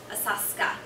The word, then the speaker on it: Asakusa: It's spelled Asakusa, but just say it fast. Asaska.